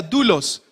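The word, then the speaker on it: δοῦλος: Hay una palabra en el griego y se escribe doulos, se produce, se pronuncia dulos, que significa aquel que está subordinado y completamente a disposición de su amo.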